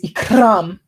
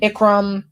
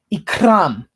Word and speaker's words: Ikram: boring ikram okay that's how you pronounce it officially i've asked her okay she likes that so just make sure you roll the r extra hard when you say it too okay just just spam